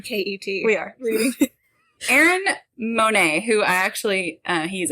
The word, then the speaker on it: Monet: because i was like what if it's like bonnet but it's not it's monet ashley gray britney hatton